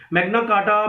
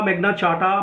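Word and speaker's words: Magna Carta: मैग्ना कार्टा, मैग्ना चार्टा, both are the pronunciations.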